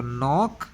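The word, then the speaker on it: knock: KNOC के student ध्यान रखना, के और एन जब साथ आते हैं तो के को कभी नहीं पढ़ते हैं, सीधा एन से पढ़ते हैं. तो के साइलेंट है यहाँ. तो नॉक एट द DOOR door.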